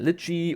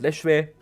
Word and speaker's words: lechwe: There is different, a dozen different pronunciations for its name. I call it Lechwe. In German, it's called Litchi, which is also the name of a fruit.